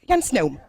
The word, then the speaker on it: Jan Sneum: Jan Sneum, how do you pronounce? Jan Sneum. Okay, that's correct.